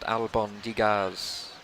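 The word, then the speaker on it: albóndigas: for telling me that Albin digas is pronounced Alabang digas Oh Nigel has the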